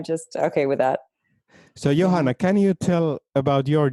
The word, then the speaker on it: Johanna: in america uh well it's johanna it's the same as in finland basically that people say it however they want to say it and i'm just okay with that so johanna can you tell about